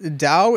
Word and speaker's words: Tao: blood like Taoism yep it's pronouncing the D okay oh really yep